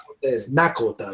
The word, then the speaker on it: Nakota: The language is all the same basically, but they pronounce like lot instead of the L, they have a D. It's Dakota. Same with Nakota, you know.